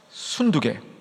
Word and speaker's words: 순두게: 누구예요 유오디아와 발음 정확히 순두부 순두부 맑게 아 이렇게 외우면 되겠네 그죠 순두부 맑게 순두 개네요 그죠 예 유오디아와 순두게 말씀드렸습니다이 두 사람은 정말